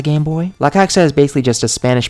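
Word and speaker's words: La Caixa: so this is the I think it's pronounced LA coxa game boy lacaxa is basically just a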